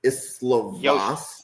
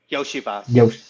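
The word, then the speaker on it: Iosivas: Cincinnati has Burton, and I'm going to butcher the last name, but is it Islovas? Yoshivas. Yoshivas, yeah.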